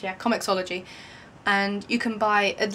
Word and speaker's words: comiXology: That's that is how it's pronounced. Yeah, Comicsology.